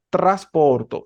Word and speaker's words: trasporto: Entonces uno dice trasporto. Suena el sonido triple, suena la R un poquito enredada, tra.